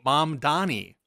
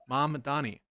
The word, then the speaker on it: Mamdani: So, I would say I would pronounce that as mom. like my mom and then Donnie like a girl named Danny, but I'm changing the D to you said mom dammy.